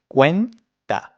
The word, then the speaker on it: cuenta: It's two syllables, two times. Cuen-ta.